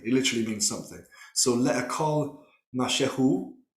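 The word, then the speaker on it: מַשֶּׁהוּ: So le'akol mashehu, or mashu, as it's pronounced in the modern, is to eat something.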